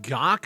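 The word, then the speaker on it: Gach: not written by ethan gawk i believe is how you pronounce it the headline reads controversial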